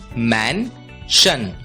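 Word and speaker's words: mansion: होती है शन इसलिए एम ए एन एस आई ओ एन का उच्चारण होगा मैशन मेंशन मैशन का मतलब होता है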